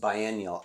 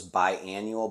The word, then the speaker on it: biennial: word and I'm sorry I think it's pronounced biennial I thought it was bi-annual but it's it looks like biennial sorry and a perennial